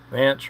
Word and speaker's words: Vance: Vance rhymes with Pence.